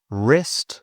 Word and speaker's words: wrist: Silent W. Wrist.